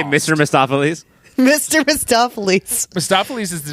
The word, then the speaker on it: Mephistopheles: And I don't know, you got Peter Fonda is, you said Mephistopheles. That is the way it should have been, but it's Mephistopheles. There's extra syllables in here, they say. They slam together.